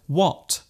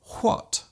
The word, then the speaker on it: what: There is a temptation for some people to overpronounce words using the silent H. For example, instead of saying when, a person might say when. Instead of what, they might say what. And instead of whip, they might say whip. There is actually no need to pronounce the H so strongly. Just let the sound leave your lips naturally.